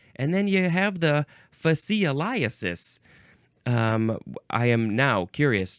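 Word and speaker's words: fascioliasis: correct let's let's take a closer look fasis fasis this is spelled f a s c i o l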